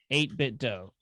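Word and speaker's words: 8BitDo: Can you spell it for me? Uh, it's 8bit. Uh, oh, 8bit. 8bit dough.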